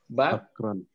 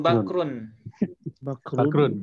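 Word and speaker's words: بكرٌ: Istaghfaro Bakron. Bakron atau bakrun? Bakrun ya.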